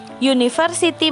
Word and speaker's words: university: Jadi di sini harus dipahami ya, yang dipakai adalah suara, bukan hanya bentuknya. Jadi itulah mengapa university menggunakan E padahal huruf depannya U.